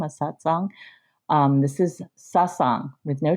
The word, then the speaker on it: Sasang: It doesn't have a T in it. That's that's sort of a meditation group in Buddhism. A satsang. Um, this is sassang with no T.